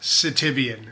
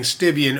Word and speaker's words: Sitivien: this video that uh this knife is pronounced citivian. So please forgive me. There's going to be, you know, a 15, however long, 20-minute video of me saying Stivian over and over again. It's not a Stivian.